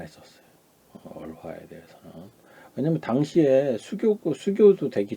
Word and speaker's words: 儿化: 오늘은 아화, 중국어로 얼화라 그러죠. 얼화. 발음 어떻게 됩니까? 얼화라고 하죠. 얼화, 화, 얼화라고 합니다.